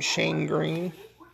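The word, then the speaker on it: Shane Greene: Man, that's a terrible name, Shane Green. Rhymes with gangrene.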